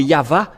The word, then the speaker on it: Yahvah: le V la vraie appellation c'est pourquoi c'est yava et ceux qui prononcent yava sont ôés du péché mais ceux